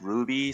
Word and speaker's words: RWBY: Even though RWB is kind of horrendous to say out loud, so they added the Y to make it easier to pronounce Ruby.